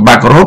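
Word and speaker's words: Pokrov: Thì chữ Pakrov đây thì nó là cái dấu nó nằm chữ ô ô thứ nhì. À, ô thứ nhì thì nó gọi là rốt, còn không phải cái trọng âm nó nằm ở đấy thì nó gọi là a, đằng sau thì nó gọi là ơ.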